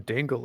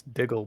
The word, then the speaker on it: Diggle: instead dinkleberg Dingle Brandy sorry it's not even Dingle it's diggle Brandy diggle Brandy okay well